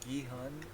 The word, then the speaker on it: Gi-hun: Okay, they always pronounce like Gihun.